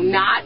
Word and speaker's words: knot: So it means same sound. So, you know, not and not are homophones.